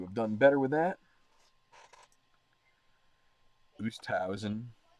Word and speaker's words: Oosthuizen: Oosthausen. I keep saying his name like 5 different ways. It's Oosthuizen. I think it's Oosthuizen is how you say it.